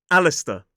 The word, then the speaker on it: Alistair: This one looks quite confusing, but the pronunciation of this name is Alistair. 3 syllables, the stress is on the first.